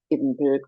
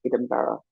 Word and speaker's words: Edinburgh: So, the American pronunciation has been Edinburgh, but it is should be pronounced Edinburgh.